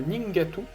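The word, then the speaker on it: Nheengatu: euh les langues basé sur le Ning le ningatu hein qui s'écrit NH h e e n G a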